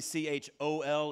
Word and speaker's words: chol: This is called the, really C-H-O-L is a better way to spell it.